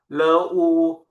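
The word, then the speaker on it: 乐: เสียง ที่ 4 ครับ อ่าน ว่า เล่อ เล่อ แปล ว่า ความ สุข นะ ครับ เล่อ ความ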